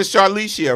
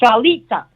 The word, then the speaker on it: Charlita: I said Charlicia, right? No? It's Charlita.